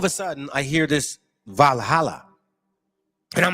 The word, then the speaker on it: Valhalla: And it says Valhalla, pronounced Valhalla.